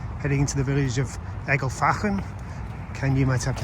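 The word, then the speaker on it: Ecclefechan: And half an hour stop in Egelfachen, that's how you pronounce it according to the locals, and time to march on.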